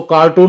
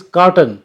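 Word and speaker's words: carton: कहते हैं कि इसको कार्टून में पैक कर दो एक्टिव कार्टून नहीं होता उसका जो सही उच्चारण है दैट इज कॉटन और उसके स्पेयरिंग होते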